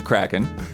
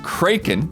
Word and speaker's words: kraken: Adding to Don's Kraken woes, there are actually three ways to pronounce that word. The common American pronunciation is Kraken. The pronunciation that Don brought forth that we had never heard of was Kraken.